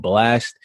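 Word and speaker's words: Blxst: recently is an artist by the name of blast it's spelled b-l-x-s-t-s and it's called no love loss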